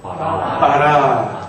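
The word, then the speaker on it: ברא: 알렙이 낱말 맨 끝에 오면 묵음이 됩니다. 그래서 어떻게 읽어요? 바라.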